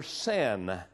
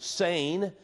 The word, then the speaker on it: Seine: course it's the river san and we off times would pronounce it Seine no matter how you say it it means the